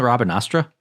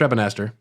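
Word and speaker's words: Rabanastre: be dead isn't it Robin asra no it's Rabin Aster it's Rabin okay right you just say it like Southern Robin RAB anter RAB I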